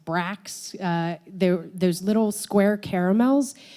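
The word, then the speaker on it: Brach's: charge of distributing the I think you pronounce it Brock's Brax there there's little square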